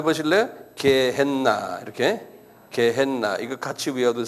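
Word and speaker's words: Gehenna: G e h n 한번 발음해 보실래요? 개했나?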